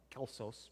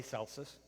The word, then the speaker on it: Celsus: Indeed, when the pagan Celsus, Greek would have been Kelsos, but we've adopted the Italian pronunciation, for lack of a better term. Italians have had a heavy influence on the history of Western Christendom. So we'll say Celsus.